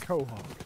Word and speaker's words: Quahog: First of all, it's pronounced Quahog.